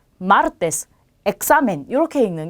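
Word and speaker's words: martes: 마찬가지로 끝에서 두 번째 모음의 강세가 오겠죠. 첫 번째, 두 번째 여기에 강세가 와요. 자, 그러면 읽으실 때 마르테스라고 읽는 게 맞겠죠.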